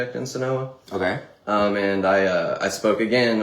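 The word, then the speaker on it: Senoia: Sonoa? I say it Sonoa or Sonoya. I never say Sonoy. Okay, so he says it two different ways, and they're both wrong.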